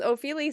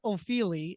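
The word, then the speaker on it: Ofili: you're not wrong because opheli sounds Italian as opposed to British but uh because it's spelled o f i l i that's right anyways I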